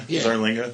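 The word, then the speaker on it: Zarlenga: Would you pronounce it like that? Stephen Zarlinga. Yeah, Zarlinga.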